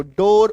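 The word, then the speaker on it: door: Double O का उच्चारण ओ होगा। डी डबल ओ आर इसके बाद आर आएगा तो डोर ओकार की मात्रा।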